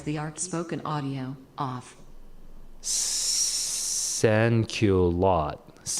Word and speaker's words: sans-culotte: Sans culotte. It's like thank you lot. Thank you lots. Thank you lots. Okay. Sans culotte.